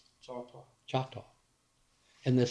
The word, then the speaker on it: Choctaw: A real Choctaw doesn't have a C in it, do they? They say Choctaw. Choctaw.